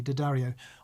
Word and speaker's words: D'Addario: You've pronounced it correctly, D'Addario. I think the people who own the company say D'Addario.